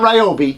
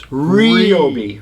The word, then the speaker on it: Ryobi: It's not Ryobi, it's Ryobi. Ryobi.